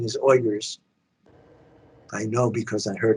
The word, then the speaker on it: Uyghurs: The correct pronunciation is Uyghurs.